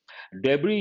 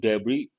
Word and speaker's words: debris: with a rhodes debris the letter s is silent debris usually whenever there's an a crash a plane crash we use the word debris and ship wreckage also